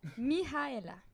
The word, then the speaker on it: Mihaela: Comment qu'on prononce comme il faut? Mihaela.